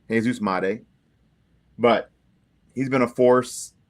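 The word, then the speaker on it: Jesús Made: We were um even corrected on fanatically how to say his name and we have it now. Jesus Mate, but he's been a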